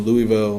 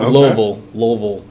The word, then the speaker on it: Louisville: And now we have our first show in Louisville next Friday. Or Louisville. Louisville. Hey, you gotta say it right for the locals if you're going down there.